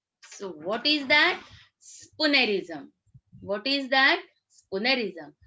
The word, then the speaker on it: spoonerism: Spoonerism. What is that? Spoonerism. How you are going to pronounce the word? It's not spoonerism. It's spoonerism.